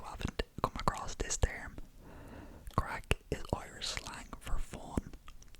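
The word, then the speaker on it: craic: Funny I say that because the first word is crack. Crack, crack. And it's spelled C-R-A-I-C. Not like C-R-A-C-K. It is C-R-A-I-C. Crack.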